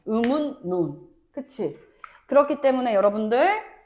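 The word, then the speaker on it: 음운론: 음울이 아니죠. 뭐라고 해? 음. 운 논이라고 발음해. 음운논.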